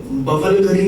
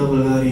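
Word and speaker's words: Bulgari: उसके बाद आपका बवलगरी नहीं होता, बल्गारी होता है.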